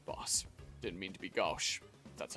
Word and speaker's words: gauche: Didn't mean to be gauche. That's how that's pronounced.